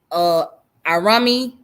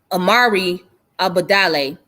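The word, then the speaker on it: Imari Obadele: and it was founded by the brother named Arami how do you say his name? Hold on. It's Amari Abadale.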